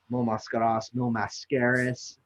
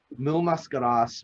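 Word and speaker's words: Mil Máscaras: Mil Mascaras, if you pronounce it like a gringo. But Mil Mascaras was my number 2 on that pick.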